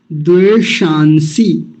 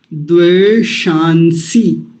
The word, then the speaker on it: द्वेषांसि: बहुत बार आया विश्वा द्वे शांसी द्वे शांसी एक और कमाल की चीज है इसमें एक मूर्धन्य सकार आया और एक दंती सकार आया द शांसी तो बड़ा